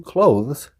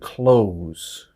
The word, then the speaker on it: clothes: was with the word clothes it has a th in it but native speakers we don't pronounce that th we say it really fast and it sounds like